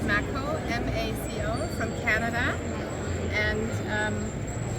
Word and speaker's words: Maco: Is it how you pronounce it? Maco or Mako? So Maco is the brand.